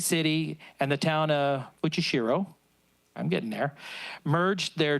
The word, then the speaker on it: Fujishiro: 35 years ago, a small delegation from the town of, you're going to have to pronounce that. Fujishiro? Okay, Fujishiro, Japan, visited our city to propose the building of a sister city relationship.